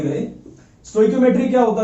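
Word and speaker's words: stoichiometric: सो आप देख सकते हो गूगल पे, वहां पर आपको इसकी एक्चुअल प्रोनाउंसिएशन पता लग जाएगी, जो कि है स्टोइकियोमेट्रिक डिफेक्ट।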